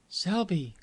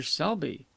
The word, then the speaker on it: Selby: to be helpful what was the name again Selby how'd you spell it s e lb y s e lby